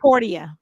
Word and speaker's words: Portia: Is that how you pronounce Portia? It's Portia.